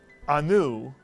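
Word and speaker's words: אנו: If you said anu, you would be correct. The entire syllable is anu, and it's not anu, it's anu.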